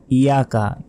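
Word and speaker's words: إِيَّاكَ: বিচার অর্থাৎ বিচার দিবসের মালিক মালিকি ইয়াউমিদ্দিন ইয়াকা নাবুদু ওয়া ইয়াকা নাস্তাাইন ইয়াকা আমরা অনেকে বলি ইয়াকা ইয়াকা নয় দেখুন ইয়াকা নাই এখানে ইয়ার অক্ষরের উপর তাজদিদ আছে তাসদিদের উচ্চারণ দুইবার পড়তে হয় এখানে উচ্চারণ হবে হামজা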